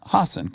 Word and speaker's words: Hasan: out time for Hass I want to say it right from H Hassen great you need time